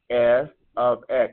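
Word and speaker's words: f(x): equation represents a function I write it as F ofx that's how you pronounce this or we look up this is pronounced f ofx f of x or if you want to say completely function of X function of x f of x function of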